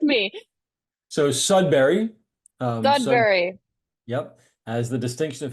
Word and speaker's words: Sudbury: Am I pronouncing the town name correctly? Or not. So Please correct me. so Sudbury, Sud, Sudbury.